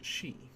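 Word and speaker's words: し: Pronounce this one as she.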